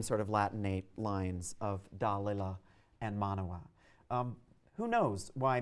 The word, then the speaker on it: Dalila: a moment and explain to you why I pronounce her name "Dalila" and not "Delilah".